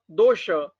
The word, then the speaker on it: dosha: We have to pronounce it as our Sanskrit pattern, not the according to European style.